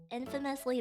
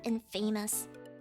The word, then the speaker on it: infamous: British food is uh infamously bad yeah I always wondered why the word Infamous is not pronounced in famous Infamous I don't got it